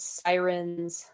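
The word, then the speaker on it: Psirens: a project called Sirens and sirens is spelled sorry my cat is like hanging out here um she's got a cool project and that is spelled with a p at the beginning so it's p s i r NS and yeah I guess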